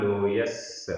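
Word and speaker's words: लोयालोयस्स: लोया लोयस आधा सा पूरा सा।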